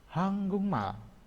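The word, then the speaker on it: 한국말: Ini hanggukmal dibaca hanggungmal.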